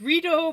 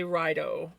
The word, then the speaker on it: Rito: It's Rito because I always want to say Rido.